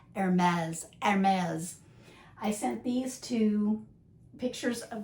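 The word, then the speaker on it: Hermès: H, you don't pronounce, but the ER, it's not or her, it's like air, like the air you breathe. Hermes.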